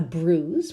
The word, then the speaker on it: bruise: might you get a bruise watch the pronunciation there we don't pronounce really that I a bruise a blister